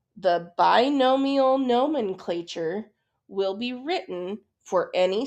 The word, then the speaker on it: binomial nomenclature: This is called binomial nomenclature. Okay, so pronounce it with me.